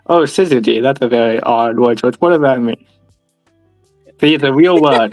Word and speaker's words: syzygy: Oh my gosh, Skizzy? Syzygy is how you say that.